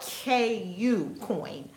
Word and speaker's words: KuCoin: KuCoin is not spelled Q, it's spelled KU coin for the exchange.